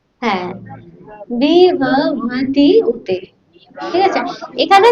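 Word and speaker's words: विभवत्युत: দাঁত ভাঙা উচ্চারণ, তাই না? আবার বলি, হ্যাঁ বলো, এই তো সুন্দর হচ্ছে, বলো তো। হ্যাঁ, বিভবতি উতে, ঠিক আছে?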